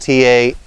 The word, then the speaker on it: Taum Sauk: this is called the Taum Sauk section, and that's spelled Taumsauk, Taum Sauk.